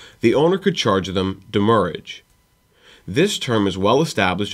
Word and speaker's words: demurrage: pronounce it, and also based off of the way that the original French word that it is based off is pronounced, it is demurrage.